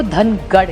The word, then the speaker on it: धनगर: संसदेचे पटला मांडली है महाराष्ट्र मराठी में धनगर कहते हैं नॉर्थ में उसी को धनगढ़ कहते हैं सो इट इ ओनली